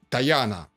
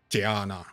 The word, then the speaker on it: Tyana: okay so who was apollonius of tayana or tiana the letter is closer to the original pronunciation of the greek city in cappadocia okay who was apollonius of